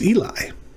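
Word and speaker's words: אֵלִי: up is ailee ailey remember that is a long e so we're going to start with e uh le and that's just l i it's eli this one's interesting i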